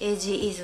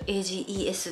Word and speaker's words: AGE: 動画の時に AGE のこと Ages って言ってるんですけど正しくは AGE と読むらしいです最後の項目食べる